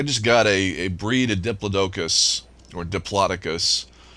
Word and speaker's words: Diplodocus: I've actually looked that up to see what is the correct way to pronounce that dinosaur. There's a new contract, And huh? at least my Google sleuthing uncovered that more people say Diplodocus in professional, um, professional circles. That tends to be the more professional pronunciation, but Diplodocus is actually acceptable.